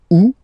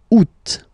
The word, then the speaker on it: août: The first one, you don't pronounce the final T. Ou. Ou. Ou. Second one, you pronounce it. Out.